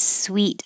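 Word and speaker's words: suite: with a t suit but when suit has an e at the end it sounds exactly the same as sweet like candy sweet this is uh like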